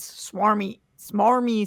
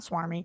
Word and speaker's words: smarmy: He is, he does smarmy stuff. I learned it's smarmy, not swarmy.